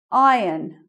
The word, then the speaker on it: iron: Iron. We don't say the R.